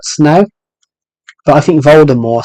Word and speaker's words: Voldemort: the silent T yeah it should have been a silent T but then they got they got it wrong but they got it wrong when they were doing the film so officially you have to call it Voldemort now but I think